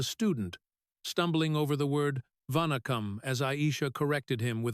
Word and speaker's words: vanakkam: He was no longer the untouchable CEO but a student, stumbling over the word vanakkam as Aisha corrected him with a patient nod. "Push the second syllable," she said, her tone firm but kind.